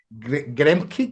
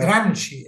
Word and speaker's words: Gramsci: Como Marx, como Stalin, como el mismo Gremke, creo que se pronuncia, como usted lo menciona, Gramsci, Antonio Gramsci, Gramsci.